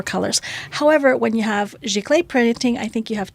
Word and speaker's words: giclée: Giclée?